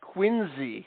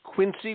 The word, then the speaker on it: Quincy: okay Quincy but if you're from Massachusetts you pronounce that quiny with a z sound quiny okay and that's the standing joke up in New England if you pronounce Quincy Massachusetts as Quincy with a C Sound we know you're from